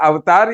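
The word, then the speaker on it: Avatar: Pronunciation, what is the pronunciation? एवाटार, एवाटार मतलब अवतार, ये यहाँ से निकाल के ले गए हैं, लेकिन है वो एवाटार।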